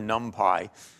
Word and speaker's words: NumPy: P lab uh either PR ounc nump or numpy uh you can choose your pronunciation as you prefer uh this basically gives